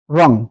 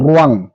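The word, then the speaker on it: wrong: ডব্লিউ এর পরে আর ডব্লিউ এর পরে আর যদি থাকে সেক্ষেত্রে ডব্লিউ সাইলেন্ট থাকে ডব্লিউ এর পরে আর আর এর আগে ডব্লিউ তো রং রং মানে হচ্ছে ভুল এখানে আমরা রং রং কিংবা রাইট এরকম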